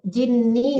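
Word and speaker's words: الجن: Qala Qala ifritum minal jinna ana atika bihi Bu, jinni Yo. bukan jinna, Bu. Jinni tapi tidak panjang ninya, ananya juga nggak panjang.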